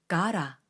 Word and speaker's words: gotta: to go 이 문장처럼 got와 to가 붙어 있는 경우에는 got to로 뚝뚝 끊어 읽기보다는 gotta 라고 발음을 하는 경우가 훨씬 많습니다. 자, 한번 따라해 볼까요? gotta, gotta. 너 이제 가라 라고 할 때 그 가라와 거의 같은 발음입니다.